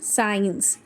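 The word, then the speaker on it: science: Then SC sound, SC sound में क्या होगा, C की जो क साउंड होती है वो साइलेंट हो जाएगी, this will have just S sound as इन साइंस, सीन, Saint.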